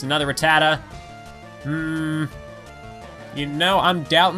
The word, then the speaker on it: Rattata: fear with our strength as a kid I used to pronounce Rattata as I think I've would pronounce it as Ratatat because I can't I couldn't read oh it's a sand